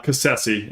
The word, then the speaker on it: Cassese: Uh Cassese is how you pronounce it.